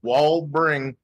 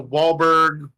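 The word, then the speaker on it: Walbring: name is weird so how do you pronounce it just like it's spelled wall bring okay I think I've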